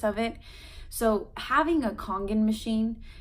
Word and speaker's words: Kangen: So having a Kangen machine, that's spelled Kangen, a lot of people call it Congo, which I thought was actually kind of funny on my recent video.